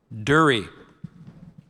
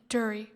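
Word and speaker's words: dhurrie: Dury.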